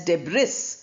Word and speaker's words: debris: Debris. We write it as debris, but we pronounce it as debris.